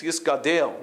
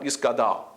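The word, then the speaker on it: יִתְגַּדַּל: It's Yisgadel, not Yisgadal.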